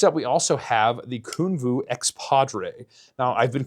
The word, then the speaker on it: Kunwu: Now, I've been calling it Kunwu for the longest time. However, I met Sergio at the booth at Blade Show, and he informed me Kunwu is how it is said.